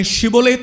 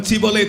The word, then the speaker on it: ஷிபோலேத்: ஒருவன் வரும்போது அவன் கிலேயாத்தியனா அல்லது எப்பிராயிமனா என்று கண்டுபிடிக்கும்படியாக நீ ஷிபோலேத் என்று சொல்லு என்று சொல்வார்கள். அவனுக்கு ஷிபோலேத் என்று சொல்ல தெரியாது, அவன் சிபோலேத் என்று தான் சொல்லுவான்.